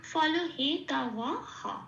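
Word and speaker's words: ফলহেতবঃ: তা এখানে এই বিসর্গটা পূর্ণ হ রূপে প্রতিস্থাপিত হয়ে গেল এবং হকে হ বলেই বলতে হবে। তাহলে আমি বয়ের উচ্চারণ পেলাম ও, পূর্ণ হ রূপে বিসর্গটা প্রতিস্থাপিত হয়ে গেল। তাহলে শব্দের উচ্চারণটা কি হলো? ফল হে তা হ।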